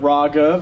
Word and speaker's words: Raaghav: It is pronounced Ra, like ramen, and then Gov, like government, Raaghav.